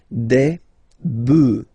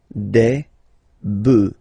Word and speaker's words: bœufs: just add this S, but then pronunciation changes quite much, because you get des bœufs, alright, un bœuf, des bœufs, alright.